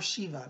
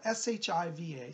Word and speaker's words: Shiva: behind me this is Lord Shiva or Shiva depending how you pronounce it spell Shi VA some people say Shiva some say Shiva I say Lord Shiva lordship is a